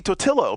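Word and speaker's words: Totilo: But that won't work right in the South because ILLO in the South is EO. So, and he wants it to be Totillo because he's telling me, it's Totillo.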